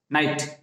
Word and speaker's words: knight: नाइट, KNIGHT, नाइट यानी रात का भी प्रोनाउंसिएशन वही है, और KNIGHT का भी प्रोनाउंसिएशन वही है, नाइट, नाइट यानी योद्धा।